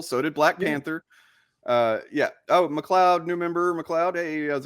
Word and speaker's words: McLeod: It's pronounced McLeod.